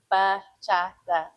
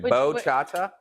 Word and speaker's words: bachata: Bachata. Pocahontas? Yeah, Pocahontas. No, I'm just kidding. Bo-chata? No, it's bachata.